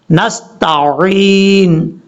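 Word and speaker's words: نستعين: نے کلیئر کرنا ہے۔ نستعین، عین کا پتہ چلے، عین، نستعین، یہ ہے اس کا پڑھنے کا صحیح طریقہ اور تلفظ۔ اب اس کے بعد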